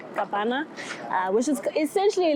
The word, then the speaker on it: kapana: like an open fire, it was kopana. They call it kapana, which is essentially like, you guys know, like iprai.